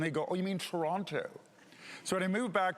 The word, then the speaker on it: Toronto: So I grew up in Toronto, and if you're from Toronto, that's how it's pronounced.